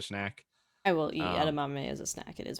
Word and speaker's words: edamame: So I'm probably gonna mispronounce it. So feel free to correct me. Edamame.